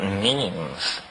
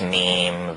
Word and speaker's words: meme: last year about about memes you know what memes are memes are the smallest units of a concept and they're like genes the word is deliberately constructed to to rhyme with Gene and so when I